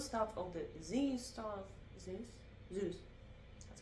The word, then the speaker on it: Zeus: Zeus. That's how you pronounce it.